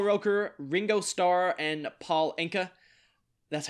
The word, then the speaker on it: Anka: So the panelists' guesses were Al Roker, Ringo Starr, and Paul Anka. That's how you pronounce it, right?